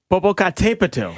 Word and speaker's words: Popocatépetl: This one, I actually have to look at the pronouncer to do this one properly. You guys are pretty close. It's Popocatépetl. Oh, Popocatépetl.